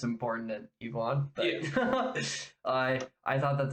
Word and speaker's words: Ivan: And it does a very good job of setting up Ivan, or Ivan, I guess is how you would actually pronounce it in Russian.